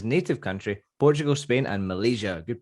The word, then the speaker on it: Malaysia: He played in his native country, Portugal, Spain, and Malaysia. Good pronunciation as well. Malaysia is how we pronounce that last one.